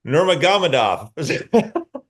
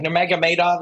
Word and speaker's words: Nurmagomedov: There you Khabib Eagle Nurmagomedov.